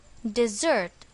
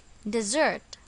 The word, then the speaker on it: dessert: it is pronounced as dessert notice that the stress is on the second syllable dessert example mom is currently